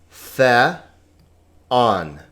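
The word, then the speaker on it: θεόν: The. On. Now notice this is not a diphthong. Epsilon omicron is not a diphthong, so this is two vowels, two syllables.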